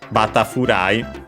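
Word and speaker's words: バタフライ: it from English, and it would become Batafurai. Honestly, usually used simply as in butterfly, as in the swimming stroke. Accented on the ba, on the first syllable, as expected, as per the rules.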